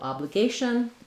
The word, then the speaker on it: obligation: It starts the stress syllable here. Letter A is going to say the A diphthong. And then the T-I-O-N ending is a sh sound and an n sound, maybe with a little schwa, shun or shin. Just move quickly from your sh to your n sound. It's really a syllabic N here where the N functions like a vowel.